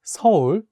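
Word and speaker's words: 서울: or you can say seoul seoul to pronounce it correctly like a native korean i think some of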